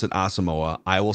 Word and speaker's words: Asamoah: the official pronunciation guide by the team is asamoa but he has he has pronounced it differently on different platforms including a